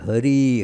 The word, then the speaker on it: Hari: So when then they were told it is Hari, Hari Bol. So it is. In Bengali, the ha becomes also in pronunciations a bit ha. So horrible. So it is sounded very much like horrible.